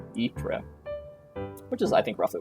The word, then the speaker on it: Ypres: And it's pronounced Ypres, which is, I think, roughly what I said.